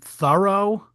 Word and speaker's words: Thoreau: I should also mention here that I believe he pronounced his name Thoreau, which could be viewed as a double entendre, because he was certainly thorough in doing all of his shit.